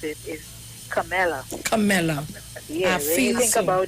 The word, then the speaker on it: Kamala: I think the way to pronounce it is Kamala.